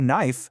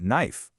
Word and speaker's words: knife: When you see kn at the start of a word, just pretend that K isn't even there. Just start with the N sound. And you see this pattern everywhere, right? It's not no, it's just no. Not K knife, but knife.